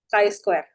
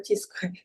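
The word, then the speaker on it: chi-square: Cara bacanya Kai Square bukan Cheese Square.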